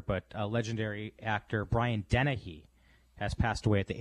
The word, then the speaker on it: Dennehy: And Dennehy, am I pronouncing his name right?